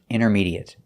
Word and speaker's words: intermediate: first example is intermediate we notice that the t is silent we don't say intermediate we say in intermediate and the a at the end is pronounced it there's no eight sound it's short it intermediate and it's a stop T not intermediate but intermediate